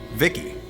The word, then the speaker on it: VIKI: Vicky. How cool was that? And you are right, it is actually pronounced Vicky, so there you go.